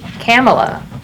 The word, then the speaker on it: Kamala: She pronounces her name Kamala, like Pamela.